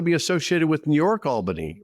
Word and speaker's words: Albany: It's Albany because people don't want to be associated with New York, Albany, right? This is true. Right. Yeah, it's actually they say Albany. Oh. I think they add an extra syllable.